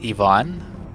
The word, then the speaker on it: Ivan: But the funny thing is that his mom, she pronounces it differently. She doesn't say Ivan, she says Yvonne.